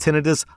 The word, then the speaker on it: tinnitus: Also, to everyone listening, I know you're about to type, oh my god, rSlash, it's not pronounced tinnitus, it's pronounced tinnitus. Actually, you're wrong, it is pronounced tinnitus, look it up.